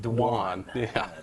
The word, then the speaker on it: Dwayne: His name is spelled Dwayne. It's pronounced Dwan. Dwan Morris.